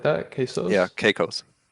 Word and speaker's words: Caicos: Um, so how do I pronounce that? Caicos? Is it like that? Yeah, Quesos? Caicos. Caicos.